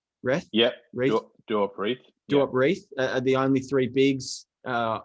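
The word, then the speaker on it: Duop Reath: that how you say his name wrestle yep do up wreath the only three bigs uh on on the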